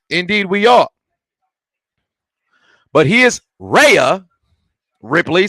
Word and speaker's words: Rhea: But here's Rhea Ripley, since the H is silent.